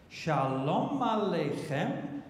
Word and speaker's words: Shalom: all these years and you've been singing all the wrong stresses so finklestein decided that he's going to write Shalom but based on the correct pronunciation so how what did I do I say these words words and try and get a me or try and get a beat so watch what happens if you pronounce it correctly Shalom so he